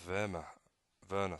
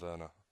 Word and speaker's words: Werner: And Werner, sorry, Werner. I don't know how to pronounce it. Werner. I always want to say it with like a V, because he's German, like Werner, rather than Werner.